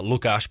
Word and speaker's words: Lukáš: see your name so the right way to pronounce it is uh lukash but we have like a rolling R there so that's like just